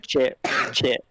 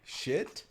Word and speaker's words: Chit: Chit. Just say chit. Shit. Chit. Yeah. Oh, chit. I was like, oh.